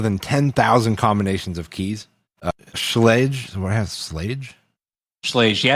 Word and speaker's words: Schlage: Schlledge. What has sl Yeah, it's a it's a mouthful just to say like a a one syllable name. Yeah. Yeah, it is. It's the extra L in there. Schlage.